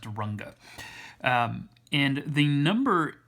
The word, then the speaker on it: Runge: called a runge-kutta method that's pronounced runga and the number m